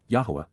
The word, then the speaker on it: Yahowah: Respect and revere, appreciate the astonishing awesomeness of Yahuwah, Yahowah, the proper pronunciation of the name of Eloah, God as directed in